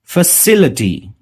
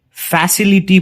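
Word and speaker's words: facility: फैसिलिटी, काफी लोग इसे फैसिलिटी प्रोनाउंस करते हैं, वो गलत है। इसका सही प्रोनाउंसिएशन है फैसिलिटी।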